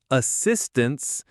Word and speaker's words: assistance: And assistance, stress on sis. Assistance. The first A and the A in tense become schwas. Assistance.